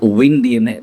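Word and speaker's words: WinDNA: Inside going that DNA, the company I found called Win DNA, though we pronounce it Win DNA, but it's actually W in DNA.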